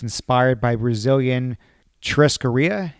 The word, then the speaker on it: churrascaria: On the website, you say that it's inspired by Brazilian churrascaria, am I pronouncing churrascaria, that right? Yeah.